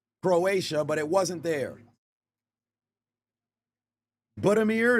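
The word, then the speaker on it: Budimir: Buddamir is how his last name would be pronounced there for Croatia.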